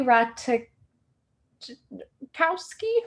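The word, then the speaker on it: Ratajkowski: the model so emily the jay is silent thank you licious so is it okay so emily rata kowski ratakowski anywho um so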